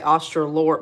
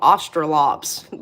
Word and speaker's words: Australorp: You're supposed to say Australorp, but we call them Australops down here. So I don't know if people say Australops or Australorps, but I know it's spelled Australorp, but we say Australops.